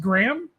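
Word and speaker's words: Graeme: waiting on brandon uh i'm going to say his name is pronounced graham sure g-r-a-e-m-e yeah yeah you know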